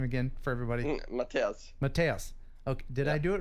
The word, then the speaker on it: Mattias: Matthias.